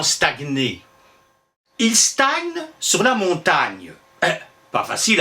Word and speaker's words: Montaigne: le prononcer n y d'ailleurs l'auteur montaigne doit l'articulation de son nom à la manière dont on écrivait montagne est d'ailleurs lui quand vous lui demandiez comment il s'appelait il disait moi bah montagne il en ira de